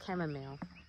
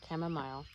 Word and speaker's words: chamomile: No, I always say echinacea, but it's chamomile or chamomile, depending on how you pronounce it.